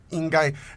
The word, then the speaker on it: 应该: 应该, it's first tone, isn't it?